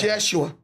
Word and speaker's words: Yeshua: No, it's Yeshua. Oh, that's Jeshua? Yeah. Spelled with J-E-W? The Y is like, the J is like a Y.